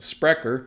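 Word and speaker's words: Sprecher: of ice and a disrupter par excellence sprecker pronounced sprecker stands alone as the leading force in modernizing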